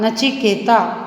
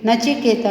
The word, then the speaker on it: नचिकेता: chop कर विक्रम आप नचिकेता जिसे हम इंग्लिश में भी नचिकेता ही बोलेंगे क्योंकि नचिकेतन नाम है तो इसका उच्चारण भी यही होगा बच्चों हमारा तो एक